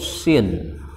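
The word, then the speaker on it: سين: giginya 3 tanpa titik ini namanya huruf Sin Sin huruf Sin Nah bukan huruf tsa tapi huruf Sin ini namanya huruf Sin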